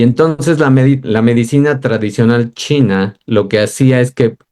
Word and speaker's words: qi: Ahora, ¿qué pasaba con la cultura de la medicina china y el chi? que se escribe qi y ese qi, ese